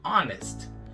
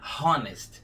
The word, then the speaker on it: honest: As palavrinhas que começam com H podem ser bem traiçoeiras, porque em algumas delas o som do H vai ser vocalizado, como em home, house, humble, e em outras não, como é o caso de honest. Você não vai falar honest, esse H aí é mudo, honest.